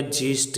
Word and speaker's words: gist: इसी प्रकार से इसमें दे रखा है GIST, तो GI आगे जी के बाद में, इसलिए यहाँ पर इसका उच्चारण क्या होगा, ज होगा। तो ये क्या हो गया, जीस्ट, जीस्ट यानी सारांश।